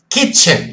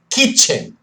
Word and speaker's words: kitchen: Kitchen, repitam comigo. Kitchen. A pronúncia é bem forte, tá? Que é cozinha. Kitchen. Bem parecido com frango, chicken, mas é kitchen.